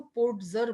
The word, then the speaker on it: Podger: यहाँ पर अंकल पोज़र, जैसे मैं पोज़र प्रोनाउंस कर रही हूँ, तो कई इसको पोट्ज़र बोलते हैं, ओके? तो वो एक ही बात है, पोट्ज़र या पोज़र, ओके?